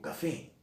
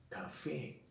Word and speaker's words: café: a veces lo hago, digo café, café. La última sílaba está acentuada o no, café. Dice que tengo que acentuarla si termina en vocal o en consonante N o S. Café termina en vocal, lleva tilde, porque es aguda. Y porque termina en vocal, aunque todavía no hemos visto la consonante N o S. Después, aguda, lleva la mayor fuerza de voz en la última sílaba, termina en N y termina en S.